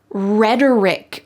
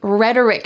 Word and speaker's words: rhetoric: Rhetoric. Rhetoric. Notice the pronunciation of this word. The T in the middle sounds like a D in American English. Rhetoric. Rhetoric.